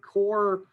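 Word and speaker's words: coir: starting seed is called core uh it's spelled co which always makes me think i'm mispronouncing it uh but core is the way i've heard it every time uh and that is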